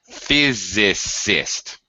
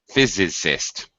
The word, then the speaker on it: physicist: little maybe challenging pronunciation physicist three syllables physicist that's it yeah same suffixes